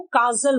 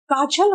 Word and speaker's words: काजल: अब मैंने देखा है एक आती है एक लेडी, वो अपने नाम को काजल बोल देती है। काजल होता है, काजल नहीं होता। ज नहीं है बेटा, ये ज है।